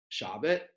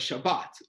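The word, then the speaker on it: שבת: what do I mean usually in Hebrew the emphasis is on the last syllable of the word right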